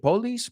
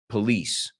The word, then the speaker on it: police: careful with the pronunciation I think you said police possibly it's police open the door police police